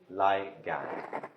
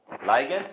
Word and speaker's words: ligand: Ligands also is acceptable pronunciation.